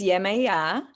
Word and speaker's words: Yemaya: on a new epic journey her name is yamaya but it's pronounced in different ways and tell us what is the correct pronunciation how you depict her in the book so her name is yemaya and it is pronounced differently all around the world yamaya is